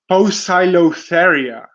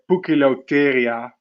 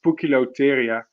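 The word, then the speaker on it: Poecilotheria: uh speak latin but i'm pretty sure it sounds something like a puke lotteria and not post cylotheria it's pukilotyria so i i mean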